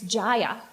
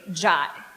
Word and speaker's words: Jaya: the women's studies department i told her my name jaya she quickly corrected me it's jaya i'm a yoga instructor and we say jai i kindly explained that while some people might pronounce it jaya i was pretty sure that my father from india and all my family in india had this one figured out now this strange